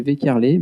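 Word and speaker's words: Waeckerlé: Et au bout d'un moment, j'ai entendu une dame qui a dit « Monsieur Weckerle », donc c'est Monsieur Weckerle, mais ça s'écrit W-A-E-C-K-E-R-L-E, donc c'est compliqué.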